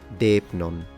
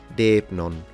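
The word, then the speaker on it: δεῖπνον: Then we have the word depnon. Notice that in ancient Greek, the D is actually a D, as opposed to modern Greek when it becomes the th, so interdental fricative, and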